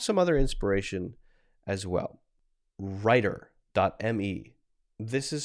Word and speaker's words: Rytr: Writer.me. This is spelled RYTR.me.